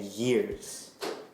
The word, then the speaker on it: years: With years, we were saying like with your tongue, you have to push yeah. This is what's happening in my mouth right now, by the way. Years. When you say ears, your tongue is laying flat.